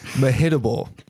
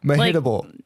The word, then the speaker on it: Mehitable: Mehitable. What? I had to look up how to pronounce that. Mehitable? Mehitable. It sounds like she's. It's spelled. Like hit me? Yeah, like me hittable?